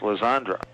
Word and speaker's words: Legendre: Spells her name Legendre, but it's pronounced Lizandra.